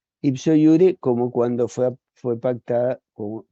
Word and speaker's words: iure: Les digo que iure, la J se pronuncia I en el latín, como en el alemán, el polaco, el ruso y todos esos idiomas que no son latinos, la J es sí y en el latín también.